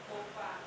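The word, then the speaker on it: Boffah: Bofa. Who? Bofa. Bofa. Bofa. Yeah. How do you spell that?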